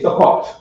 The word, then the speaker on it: Sukkot: They say Sukkot. Sukkot? They say Sukkot. Sukkot. Yeah, Sukkot. Sukkot. Yeah. And they spell it that way.